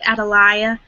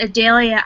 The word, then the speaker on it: Adalia: biblical name and that's Adalia it can also be pronounced Atalaya but a Dahlia I think is the pronunciation that would be chosen a lot more often and Adalia has never